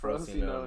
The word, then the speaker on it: Frosinone: yeah, It's Frosinone. Frosinone. I know there's a couple I'm gonna mispronounce because Okay.